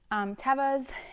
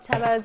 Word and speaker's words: Teva: Tevas, and that is how you say it, Teva. I know a lot of people say Teva, but actually, like on their YouTube and their Instagram, it is Teva.